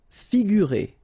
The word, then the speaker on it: figurer: Figurer. Okay, so here you get this G and U together without any vowel after, so you will pronounce this combination gu, sorry, figurer, figurer.